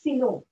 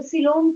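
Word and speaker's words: coelom: it is called as silo and it is lined by mesoderm. ये हम बाद में करेंगे। मैम सिलोम की स्पेलिंग? हाँ मैं बताती हूँ। this is CO. COE COE LOME सिलो. तो सिलोम क्या है?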